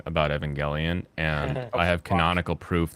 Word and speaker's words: Evangelion: it's evangelism so it'll be evangelium and it's like no you read the Kana it's Evangelion it is straight up Evangelion yeah that's why I